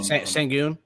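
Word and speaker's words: Şengün: Oh, Sengun.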